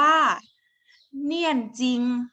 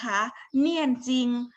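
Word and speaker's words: 念经: นะ คะ อัน แรก อัน นี้ อ่าน ว่า เนี่ยน จริง นะ คะ เนี่ยน จริง ภาษา ไทย แปล ว่า สวด มนต์ นะ คะ คน จีน อ่าน ว่า เนี่ย จริง ยก ตัว อย่าง การ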